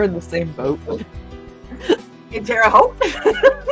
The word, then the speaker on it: Terre Haute: in Terre Haute. And Terre Haute. It rhymes with both.